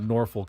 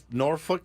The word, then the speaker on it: Norfolk: don't know much about Norfolk State football but you know more about nor norfol State it's norfol I think they say norfol there's an L I know but they don't I don't think they